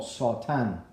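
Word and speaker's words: שטן: La palabra Satán en el hebreo se pronunciaría como Sotán, como si fuera A-S-A-W, Sotán, con una terminación en M.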